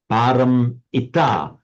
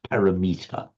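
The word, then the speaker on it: pāramitā: Param ita, gone to the far shore. You will sometimes hear Western speakers talking about the parameter. Awful, no. Paramita, not parameter. Paramita.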